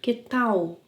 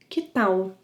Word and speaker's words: Que tal: Remember to pronounce the final L as a U sound. Que tal? Que tal as in how about?